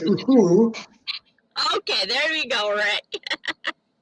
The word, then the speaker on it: Uhuru: I believe it's pronounced Uhuru.